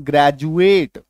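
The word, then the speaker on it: graduate: GRADUAT, डी के बाद UATE है, ये देखिए, और डी के पहले खाली नहीं है, कुछ अक्षर मौजूद है, तो इसका उच्चारण क्या होगा, ग्रेजुएट।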